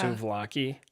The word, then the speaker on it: souvlaki: Souvlakia? Oh, yeah. Souvlaki? Lamb How do you spell it?